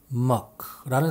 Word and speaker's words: Mc: 여기서 더 중요한 사실은 접두사를 MC라고 쓰든 MAC라고 쓰든 발음은 똑같이 Muck라는 사실입니다.